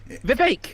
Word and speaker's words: Vivek: Vivek rhymes with cake.